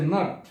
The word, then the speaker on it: knot: তারপর হচ্ছে নট, কে এন ও টি।